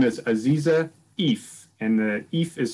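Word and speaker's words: Eiffe: her name is aziza if and the if is spelled e-i-f-f-e and she told me it rhymes with beef so good hopefully seems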